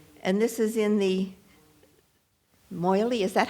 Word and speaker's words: Meili: a Swiss bank, and this is in the Maudsley, is that how you say it? Thank you. Christopher Maudsley, let me correct my pronunciation.